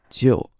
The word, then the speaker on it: 就: So in the simplest usage, this character 就, pronounced in the fourth tone, J-I-U, 就.